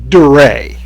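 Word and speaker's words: Durea: We next move to the Santa Monica Pier, where a certain Dr. Duria, Duray, that's how he's pronouncing it, runs a chamber of horrors.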